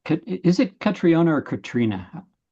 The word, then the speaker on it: Catriona: So there's Irish, there's Irish, which is Ciona, and then there's Highland Scots, which is Katrina, and then there's land Scots, which is Katrina. So you're the third Katrina.